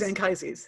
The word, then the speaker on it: Anchises: I mean, it is Anchises. You didn't make it up. Yeah. I'm not policing pronunciation because I, having agreed pronunciations at the top, I'm driving through them with a freight train.